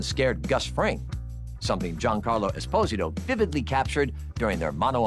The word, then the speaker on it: Esposito: I mean, Lalo even scared Gus Fring, something Giancarlo Esposito vividly captured during their mano a mano showdown. And, yes, it is pronounced "Es-POSE-uto."